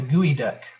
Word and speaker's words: geoduck: a very odd clam called a gooey duck and it's spelled geoduck i don't know how they get gooey out of it that's how they pronounce it and this is